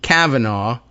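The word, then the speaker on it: Cavanaugh: the kids name is Nathan Kavanaaugh, not uh, like the justice, but well, pronounced the same, but I think spelled with a C.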